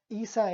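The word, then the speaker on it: عيسى: En el nombre de Isa Isa es la pronunciación del nombre de Jesús en el idioma árabe Entonces les invitaban a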